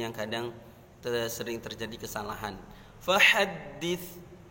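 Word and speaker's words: فحدث: Fahaddits, taknya jangan dibaca fahaddits, jangan dibaca sin, harus fahaddits sesuai dengan makhraj taknya.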